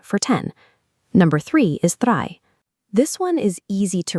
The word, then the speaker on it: drei: Number three is drei. This one is easy to remember because it sounds almost exactly like the English word dry.